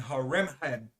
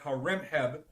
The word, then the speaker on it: Horemheb: And Horemheb was the last pharaoh. Okay, but I'll just spell Amenhotep for you. It's spelled A-M-E-N-H-O-T-E-P.